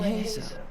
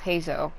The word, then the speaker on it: Heizou: Because I know it's Zo, almost like, you know, like Wansuo. Like that, it's like Suo, but with the letters reversed and with a Z. It's Zo. It's Heizou.